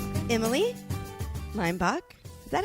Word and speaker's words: Leimbach: do you say it Leach yeah Leach oh it's lime lime lime boach just ignore how it's spelled I I told teachers this imagine lime the fruit and Bo the chicken lime and then you